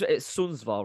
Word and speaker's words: Sundsvall: Okay, so let's speak about your obviously since you moved to Sundsvall, it's Sundsvall, right? I'm pronouncing it right, Sundsvall.